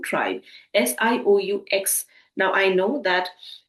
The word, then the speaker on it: Sioux: is called as the Sioux tribe, Sioux. Now, I know that the spelling is not aligning with the pronunciation, but that X here is completely silent.